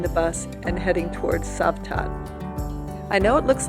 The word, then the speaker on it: Cavtat: stream before boarding the bus and heading towards savat I know it looks like Kat but it is pronounced savat savat is a Resort Village right on the